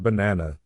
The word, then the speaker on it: banana: In the word banana, the boss is na.